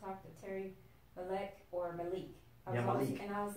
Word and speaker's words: Malek: k or m e this is how you pronounce it Malik Malik I'm like why you having that swag on